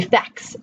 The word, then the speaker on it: FAQ: a societal movement of now pronouncing it as a word acronym as pronouncing it FAQ, okay? Or maybe facts, frequently asked questions. And I didn't know that. So if you actually look close at the screenshot of the dictionary, on the left-hand side, you can see basically the dictionary's phonetic alphabet pronouncing the word as fac.